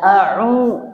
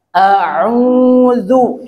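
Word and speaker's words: أعوذ: Jadi jangan dibaca au. Nah, itu sama. Ya, tapi dibaca a'udzu.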